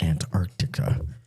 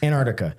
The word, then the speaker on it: Antarctica: This is about Antarctica. So, I think I added a syllable there. Antarctica.